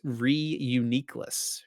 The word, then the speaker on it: Reuniclus: I'm pretty sure there's a Reuniclus in Uh I'm It's actually I'm I've realized I'm saying that Pokémon's name wrong, by the way. It's Reuniclus. Reuniclus.